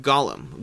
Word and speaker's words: Golem: beginning then we have gollum golem golem pronounced either way really but golem is going